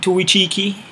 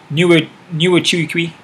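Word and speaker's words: Nchukwi: Toflon Tuichiki versus Carlos Ulberg. I know I mispronounced his last name there. Nuichiki.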